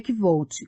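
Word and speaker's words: Kvothe: Meu nome é Kvolt, com pronúncia semelhante à de Quote.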